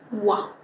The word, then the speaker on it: water: So imagine that it's actually just a U at the beginning. Wa, wa, wa. All right? And so once you have that wa, we're going to move into the second syllable. All right, moving on to the second syllable. We have a T-E-R, so ter, right? However, in American accent, people don't pronounce the T as an R, and I have